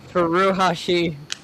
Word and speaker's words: Furuhashi: Furuhashi.